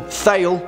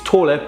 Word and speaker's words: Thale: Now, some of you may pronounce this film Thale, which is fine. I mean, it's Tåle, but whatever, say what you want.